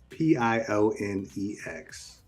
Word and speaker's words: Pionex: P-I-O-N-X. Sure. All right. Or is it Poloniacs? No, it's not. I don't know. It's not like Bologna X. It's like Pyroniacs. Is it? No, it's Pionex.